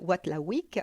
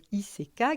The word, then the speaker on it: Watzlawick: Car oui, la communication est au cœur de toute relation saine et comme l'a dit Paul Watlawick, alors excusez-moi pour la prononciation, Watzlawick, qui est un psychologue et pionnier de la thérapie systémique, on ne peut pas ne pas communiquer.